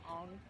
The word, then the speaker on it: Aang: Aang's name being pronounced Ong.